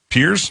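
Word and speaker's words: Pierz: I'm a teacher in is it pronounced P I E R Z peers peers right we have phones banned for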